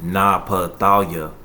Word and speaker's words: Naphtali: And his name in the Hebrew is pronounced Naphtali, which means my wrestling or wrestling.